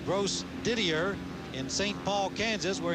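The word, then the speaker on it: Grosdidier: name it's g-r-o-s-d-i-d-i-e-r and it hurts me badly with a little bit of school book French to not pronounce that bro Didier but it's gross Didier in St Paul Kansas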